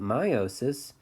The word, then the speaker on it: meiosis: But after they go through mitosis, eventually they go through meiosis, or some people pronounce it meiosis, either way. But meiosis has two sets of divisions.